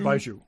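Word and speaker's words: Baijiu: Baiju. And um B A I J Gu Ju. And I I actually listen to pronunciation keys and that's how they said to do it.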